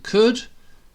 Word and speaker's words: could: So could is spelt like that, but we say could.